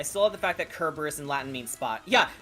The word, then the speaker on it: Kerberos: and yes that's the original greek pronunciation kerberos not cerberus not cerebral boris kerberos yeah that that's logo